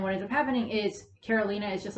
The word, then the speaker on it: Karolina: And Caroline's looking at him, and she's Karolina, sorry, Karolina. Whatever point I end up watching the series, I'm going to be like, oh, that's how you pronounce it.